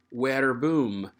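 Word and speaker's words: verbum: from the latin word where boom and i want to pause to remind you that the letter v in classical latin is not pronounced v it's a sound like a w so this is where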